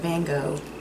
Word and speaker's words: Van Gogh: I love Vincent van Gogh. And I love... Or Van Gogh, as the British say.